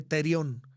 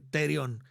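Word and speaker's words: θηρίον: Bueno, la palabra bestia en el griego, hermanos, se escribe terión. T-H-R-I-O-N, terión.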